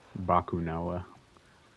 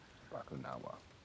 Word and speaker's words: Bakunawa: I don't know how to pronounce that. Bakunawa. Bakunawa.